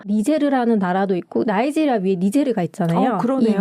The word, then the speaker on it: 니제르: 니제르라는 나라도 있고 나이지리아 위에 니제르가 있잖아요. 그러네요. 이 니제르 강을 불어식으로 발음했을 때 니제르 국가명이 된 거고 나이지리아는 이제 영국령이었어요.